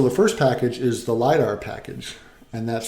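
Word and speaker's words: lidR: And so the first package is the Lidar package, and that's spelled L-I-D capital R.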